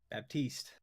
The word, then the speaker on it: Baptiste: fella from you be a p TI ste Baptiste it's he says isn't it like Baptist I